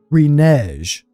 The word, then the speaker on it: renege: And they've never said renege. They always said the G as a hard G.